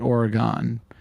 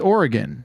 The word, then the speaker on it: Oregon: majority of my life I used to call it Oregon but it's Oregon Oregon the oron trail